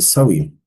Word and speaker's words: Samhain: Okay, thousands of years ago the Celts celebrated Samhain, pronounced it Sow-in.